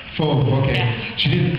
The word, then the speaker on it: Fauve: Fauve. Fauve, okay. Yeah. She didn't phonetically spell it for me.